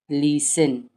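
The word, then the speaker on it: listen: ये बना लिसन, लिस, ये बन गया 10, लिसन, लिसन। टी इसमें साइलेंट है, लिसन, लिसन।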